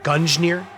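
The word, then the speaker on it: Gungnir: do this gun engineers pronunciation is both g's we pronounced as in gun okay isn't that how i said it gungner don't know what is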